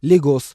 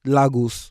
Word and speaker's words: Lagos: is where I'm from and how it's actually pronounced. Lagos, not Lagos.